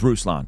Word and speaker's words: Ruslan: It's Ruslan, Alex. It's Ruslan.